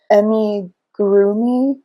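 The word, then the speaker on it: amigurumi: ever heard this word pronounced so I might mispronounce it but I did Emmy groomy lovees it's a pattern I found I think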